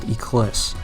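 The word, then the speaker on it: Eclise: i've ever played and no i'm not mispronouncing eclipse it's actually called ecliss what it is is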